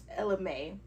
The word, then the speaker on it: Ella Mai: wear so I was thinking because it's Ella Ella Mae that's how you say it I was thinking